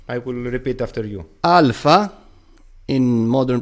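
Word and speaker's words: ἄλφα: The only difference is that there are two variations, a short one and a long one. A and A. A. Yes. The long one is twice as long as the short one. Like the Arabic variations. Yes. Of A. Yes. Okay. And we have an English example, the word like. It might be difficult for English speakers because there are various A's, but not a clear A, as in Greek.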